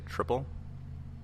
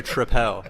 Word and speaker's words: Tripel: life, I would say triple. But we thought of the name Citadel, and so now we need it to rhyme. So I have changed my pronunciation officially to Tripel.